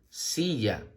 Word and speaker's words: silla: La palabra silla se escribe con S-I que suena así, doble L-A que suena ya, sí, ya, silla.